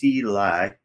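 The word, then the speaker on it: Silay: Growing up in Slay City, Philippines, pronounced Silai.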